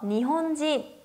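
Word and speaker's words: 日本人: 인을 진이라고 발음해서 니혼진 이라고도 읽는데요.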